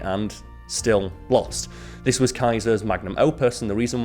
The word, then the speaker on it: Caesar: history teacher it's Julius Kaiser it's not Caesar as in Caesar salad it's Kaiser that's how the Romans pronounced it and that was drilled